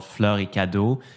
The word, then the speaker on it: Fleurs Cadeaux: was a souvenir shop so basically it's called floricado which translates into Flowers and Gifts Flowers and Gifts okay thankfully you pronounced it because I would completely butchered it